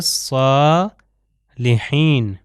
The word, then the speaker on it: صالحین: عباد اللہ ہے صالحین، یہ جو صاد ہے صالحین ہم جانتے ہیں جو صالحین ہیں جو اچھے اعمال انجام دینے والے ہیں صالحین، اگر سین سے ہو جائے گا تو اس کا مطلب بھی چینج ہو جاتا ہے۔ پھر آخری ہمارے پاس